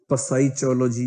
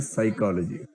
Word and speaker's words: psychology: इसमें पी है पर साइलेंट है, एच है वो भी साइलेंट है, तो पसाइचोलॉजी जिसको बोल सकते थे, उसके बदले में उसको बोलते हैं साइकोलॉजी।